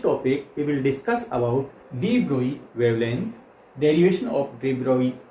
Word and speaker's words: de Broglie: is not say like de Broglie. Generally, most of the students say de Broglie wavelength. No, it is not. Pronunciation is de Broglie wavelength. So always remember it should be de Broglie.